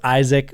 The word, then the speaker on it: Aizec: you that don't know it is pronounced Isaac but spelled a i z e c so very different I've never seen another